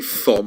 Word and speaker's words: Thom: It's pronounced Tom, but I say Thom because then you remember how to spell it, all right?